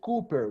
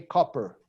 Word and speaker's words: copper: yes, we don't say Cooper, we say copper, okay?